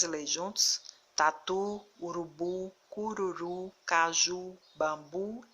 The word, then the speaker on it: urubu: nesse grupo de palavras que a última sílaba é pronunciada com mais força com mais intensidade por isso que a escrita com o no final por conta dessa intensidade por conta dessa força ao pronunciar a sílaba a última